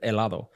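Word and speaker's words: hielo: a ear yeah so it's spelled with an H but H is silent in Spanish a is ice cream yes that's right El is ice cream see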